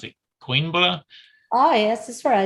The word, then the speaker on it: Coimbra: How do you pronounce it? Coimbra? Coimbra, yeah.